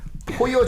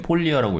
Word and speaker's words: 포여: 성이 포여고 이름이 죄르지. 그러니까 이름이 성이 예. 포여인데 이게 여기 발음으로 포여인 것 같아요. 뭐 그냥 영어식으로 읽을 땐 폴리어라고 읽고 포여라고 읽는 게 맞는 것 같아요.